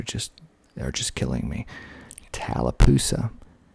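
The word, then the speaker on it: Tallapoosa: those peas are just are just killing me talapa t a l l a p o o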